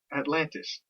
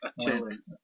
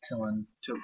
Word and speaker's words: Attilan: Atlantis. I'm going to say false. Yeah, see, it's a weird one. Atlanta. No, it's Attilan. Attilan.